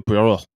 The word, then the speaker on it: Poirot: train on which he's traveling, celebrated detective Hercule Poirot is recruited to solve the case. Colin, did you have an issue with my pronunciation?